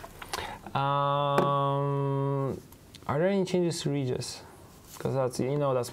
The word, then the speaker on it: Regis: I like how you said Regis in Polish. It's so good. Yeah, it's, you know, Regis, I like the hard G.